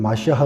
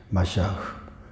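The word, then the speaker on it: מָשִׁיחַ: 나누어 포토로그 그렇게 하겠습니다 메시아는 히브리어로는 맛이 하 이렇게도 이제 발음이 되요 되기도 하구요 한국 빠른 그런 메시아 이렇게 발음이 됩니다 맛이 아 헬라어로 는 에 크리스토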